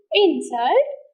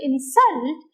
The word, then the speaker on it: insult: put stress on i insult it is noun but the same word i when i put the stress on the second syllable insult it is work so you can have